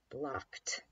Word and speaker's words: blocked: about after us CK so if we were to make the word block-like he blocked my my kick blocked blocked sounds like a t-there right blocked alright we'll